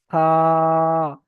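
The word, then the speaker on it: ث: এটার উচ্চারণ দাঁতের সামনের উপরের দুইটি দাঁতের আগা, উপরের দুটো দাঁতের আগা আর জিভের আগা, জিভের আগা দাঁতের আগা লাগিয়ে সা, সা, এমন ভাবে উচ্চারণ হবে, হালকা উচ্চারণ হবে।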